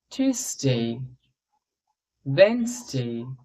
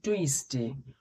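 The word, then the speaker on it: Tuesday: এটা মনডে নয় Monday টিউসডে আমরা বলি টসডে টসডে নয় টিউসডে টিউসডেনসডে এখানে সবচেয়ে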